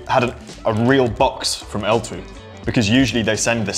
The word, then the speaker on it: Ltwoo: from a company called L2. I'm trying to pronounce it. I'm making an effort, Jimmy. I'm trying to pronounce it correctly. It's L2, apparently, even though it's spelt like twit-twoo.